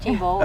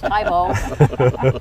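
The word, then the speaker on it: Thebaud: My grandfather was on board the Tebow, and you're not pronouncing it right. It's not Tebow, it's Tybo.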